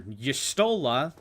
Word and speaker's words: Y'shtola: Like, I used to call Y'shtola Y'shtol, because, like, for Final Fantasy XIV, because I played Dissidia, there was no voice acting.